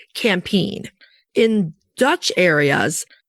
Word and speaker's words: Campine: And in America and some other areas, you often hear it campine. There's a lot of ways to say it. Well, we're using the Belgian Flemish pronunciation, which is campin.